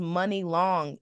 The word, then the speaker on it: Muni Long: Why is it pronounced money long? MUNI should never be money. It should be muni. Money long, when it's spelled like that, just sounds crazy to me.